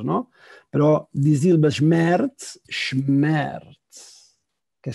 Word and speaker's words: Schmerz: Pero Die Silbe Schmerz, Schmerz, que sílaba, dolor, ¿no? Que sílaba más larga, ¿no? Es un monosílabo, Schmerz, ¿no? Para los que hablamos en catalán o castellano o francés, suena casi como, ¿no?